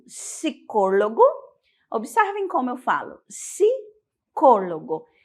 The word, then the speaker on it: psicólogo: o psicólogo né psicóloga no espanhol a gente já vai suprimir esse p e já vai falar psicólogo psicóloga se escreve da mesma forma é a mesma profissão Mas aí tem a fonética já um pouquinho diferente e logo em seguida